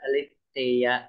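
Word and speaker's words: ἀλήθεια: Aletheia. Aletheia. Aletheia. Kasi yung accent mo, doon mo itataas yung boses. Sa Eta po.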